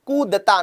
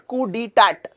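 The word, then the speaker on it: coup d'état: इट इज कू दता, नॉट कू डी टैट।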